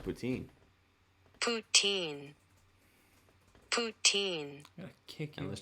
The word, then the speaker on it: poutine: in Bergen County watching us we learned it's pronounced poutine it's not pronounced it is it is pronounced poutine you're I'm not arguing that fact it's pronounced poutine poutine poutine kick and let's change the speed